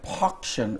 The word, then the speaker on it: Pawction: A big fundraiser tomorrow, it's the For Paws for a Cause, a silent pawction will be going. Is that it? Did I pronounce it? Yes. Pawction as opposed to auction.